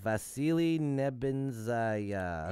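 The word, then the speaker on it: Vasily Nebenzya: At the Security Council meeting Saturday morning, which was this morning, Russia's ambassador to the UN, Vasily Nebenzaya, Oh, said beautiful. that, You nailed that pronunciation.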